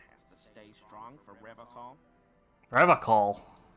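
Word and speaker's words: Revachol: But someone has to stay strong for Revacol. Revacol. He pronounces Revacol with a hard K, unlike a serious question time.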